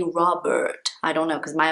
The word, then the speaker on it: Robert: try our best here for the name robert so at the beginning robert so in british english the r in the middle is very small if you're speaking with